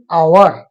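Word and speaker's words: hour: Psychology, P को हम लोग साइलेंट रखकर उच्चारण कर, लेकिन इसमें देखिए एन आवर, एच साइलेंट करके आवर, ये एच साइलेंट रहने के बाद, एच को साइलेंट रखने के बाद उच्चारण आवर यानी वॉवेल से होता है।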